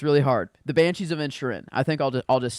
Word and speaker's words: Inisherin: Inisherin. Okay, thank you. Inisherin.